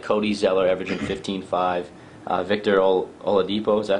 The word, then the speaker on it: Oladipo: Victor Oladipo, is that how you pronounce that?